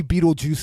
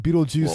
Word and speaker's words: Betelgeuse: yeah but to me Betelgeuse is spelled like the word beetle and then the word juice put together yes that that